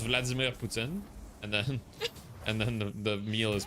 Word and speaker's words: Poutine: Oh yeah, it's pronounced the same way in French too, because like it's pronounced Vladimir Poutine, and then the meal is Poutine, so they're pronounced the same way in French.